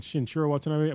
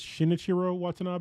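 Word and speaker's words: Shinichiro Watanabe: I kept saying Shinurro Watanab, but I'm pretty sure it's Shinichiro Watanab.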